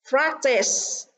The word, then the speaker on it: practice: À, bởi vì practice trọng âm rơi vào âm tiết đầu tiên, còn ba từ còn lại trọng âm rơi vào âm tiết thứ hai.